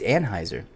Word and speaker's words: Anheuser: fine time to talk I don't think that's how you pronounce the team it is no it's not it's Anheuser run it back pull